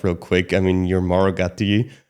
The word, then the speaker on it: Mauro Gatti: So, in Europe, we can roll it.